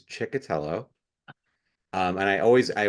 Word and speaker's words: Ciccotello: last name and um the way that I pronounce it is chiello um and I always